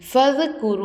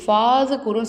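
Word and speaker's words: فاذكروا: ஃபது குரு அப்படி சொல்லணும். ஃபாது குருன்னு சொல்லக்கூடாது, ஃபது குரு அப்படி சொல்லணும்.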